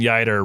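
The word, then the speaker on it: Yeutter: I began talking about Clayton Yer. I have his biography in front of me that's going to be my my summer reading. And it's Clayton Yer rhymes with fighter.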